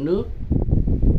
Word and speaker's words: nước: Thành ra các cụ mới chế ra cái chữ nước, là lấy bộ thủy chuyển nghĩa, rồi kế bên với chữ nhược là chỉ âm, và đọc là nước.